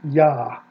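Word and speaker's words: יָהּ: So this very clearly is a long A vowel. It is the same vowel, if we go back here, as we have at the end of Adonai, right here. It gets put into the four consonants. It is A vowel, Ah.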